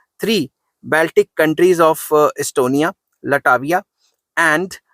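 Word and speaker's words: Latvia: In September 1991 three Baltic countries of Estonia, लटाविया एंड लटाविया नहीं लटविया, sorry pronunciation में फर्क हो गया, and Lithuania became the members of United Nations and later on they joined NATO in March 2000।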